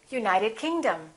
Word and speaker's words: United Kingdom: If the place has two words, we stress the second word. For example, South America, we say South America. United Kingdom, we say United Kingdom.